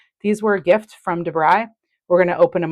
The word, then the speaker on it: Da Brigh: I think it was yesterday from Debry. It's spelled D- A B R I G H.